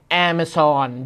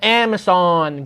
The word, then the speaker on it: Amazon: นะ ครับ เจ้า ของ แอร์ เม ซอน ดอท คอม นะ ไม่ ใช่ ร้าน กาแฟ อเมซอน ออก เสียง หรือ อย่าง นั้น ไม่ เหมือน กัน นะ แอ มะ ซอน กับ Amazon คน ละ อย่าง กัน ที่ 3 บริษัท นี้